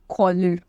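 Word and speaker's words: choler: then you have raise anger and कॉलर okay it इज नॉट सी इट इज के okay कॉलर so these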